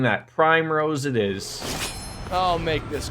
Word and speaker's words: Primrose: Primose? Her name is Primrose.